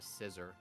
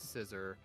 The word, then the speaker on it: Scizor: really confused by uh I always wonder why you call Scizor scissor like a pair of scissors it just what it's based on I don't know whenever I hear the word scissor I'm like who's he